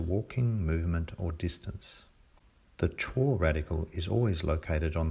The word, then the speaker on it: 辶: Chuo, to walk, or walking. It's often pronounced zhou, but it doesn't really matter, because chuo is not a character in its own right.